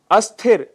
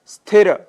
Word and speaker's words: स्थिर: शब्द हैं जैसे स्थिर स्थिर की जगह हम अस्थिर या स्थिर शब्द का प्रयोग करते हैं जबकि शुद्ध शब्द है स्थिर ऐसे ही स्तुति जिसके